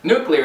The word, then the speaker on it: nuclear: Nuclear is commonly mispronounced as nuclear.